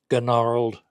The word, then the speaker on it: gnarled: these are pretty well gnarled up g n a r l e d Gard up silent G but not for me and um I'm